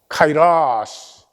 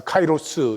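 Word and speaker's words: καιρός: 카이라스. 우리 한국은 이 라틴어 발음을 따라서 카이로스 이렇게 하는데 카이라스.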